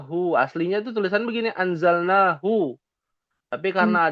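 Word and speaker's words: أنزلناه: Ada hu aslinya tuh tulisan begini anzalnahu. Tapi karena ada alif kecil dalam ilmu tajwid ya, jadi dibacanya ditulisnya alif kecil ya. Bacanya panjang. Anzalnahu.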